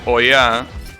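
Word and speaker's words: 親: But, like, for example, yes, the kanji for parent, apparently, which is pronounced oya, has like a tree, an eye, and a thread.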